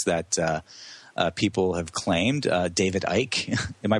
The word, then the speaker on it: Icke: David Icke, am I pronouncing his last name right? David Icke. That's right. That's how he pronounces it.